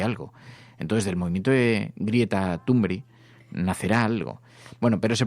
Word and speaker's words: Greta Thunberg: Entonces, del movimiento de Greta Thunberg nacerá algo. Bueno, pero se pronuncia así.